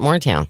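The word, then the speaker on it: Maurertown: you look at, but they pronounce it Moortown.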